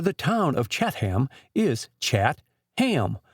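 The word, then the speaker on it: Chatham: So the proper pronunciation for the town of Catham is Chattam with the accent on the hind end.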